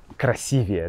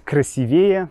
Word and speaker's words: красивее: Красивее, да? Я всегда путаю ударение в этом слове. Мне хочется сказать красивее, но правильно говорить красивее.